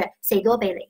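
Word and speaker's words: 士多啤梨: 士多啤梨，那么粤语发音就是 "say 多啤梨，say 多啤梨 "，那其实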